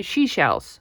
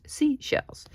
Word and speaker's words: seashells: If I pronounce it very quickly, I say she-shells. She-shells. But it's not she-shells. It's seashells.